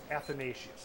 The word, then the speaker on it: Athanasius: I forgot how to pronounce that. Aanasius. Onos. Aos. Come on, man. Aanatasius. Athanasius.